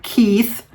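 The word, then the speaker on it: Koeth: your last name cuz it is k o eth and she told me it's pronounced Mary Keith and her name of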